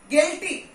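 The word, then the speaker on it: guilty: गिल्टी, यू is silent over here.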